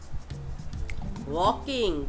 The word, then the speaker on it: walking: वॉकिंग, WALKING, वॉकिंग, इसमें L silent है, means चलना या टहलना।